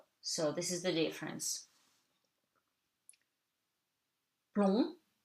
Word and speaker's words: plomb: Plomb, you don't pronounce the B, le B is silent.